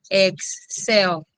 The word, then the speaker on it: Excel: what is the Excel Excel is pronounced as X cell right so this is